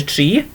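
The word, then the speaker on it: tri: Okay, so think in pronunciation as if we're talking about a tree. Okay, it's exactly the same sound there, okay, but it's spelled differently. So tree is 3, and there we are. So tree is the number 3, and then we pronounce it like the word tree.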